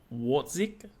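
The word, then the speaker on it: Wortzik: How do you pronounce his name? Watzik? Sonny Watzik? Yeah. I think it's Watzik.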